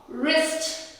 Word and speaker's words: wrist: For example, rap, wrong, wrist, writing. So இதெல்லாம் W silent இருக்கும்.